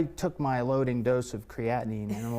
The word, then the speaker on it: creatinine: How do you pronounce it again? Creatinine. Creatinine.